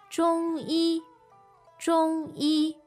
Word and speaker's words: 中医: 中医. So, that's Z-H-O-N-G, first tone, and a Y-I, first tone.